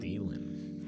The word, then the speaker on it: Thielen: Thielen.